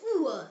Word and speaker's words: Uhr: And U pronounced as U. Like the U in the English word moon. Example word is Uhr. Say it, Uhr. It means clock or o'clock.